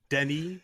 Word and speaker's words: Denis: I want to, you know, direct traffic on the streets of Paris with Denis, which is how you say Dennis in French, by the way.